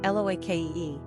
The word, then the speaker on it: Loki: Pronunciation, Loake.